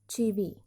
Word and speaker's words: Chivvy: It is pronounced as Chivvy.